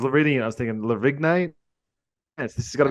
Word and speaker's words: Lavigne: With a silent G. I just pronounced it like Avril Lavigne. That's what I did too. And I was reading it. I was thinking Lavigne.